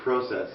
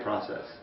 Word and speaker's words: process: I've just learned that Canadians, probably Brits as well, say process. Yeah, I'd probably say process. Yeah, process. and Americans say process. So I prefer to say process.